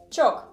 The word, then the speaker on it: Tsioque: лицо рандомными английскими буквами потому что произносится это все очень даже легко чок поехали чок это приключенческий